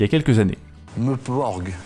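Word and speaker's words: MMORPG: Meuporg, ça s'écrit MMMPORPG. Ah oui.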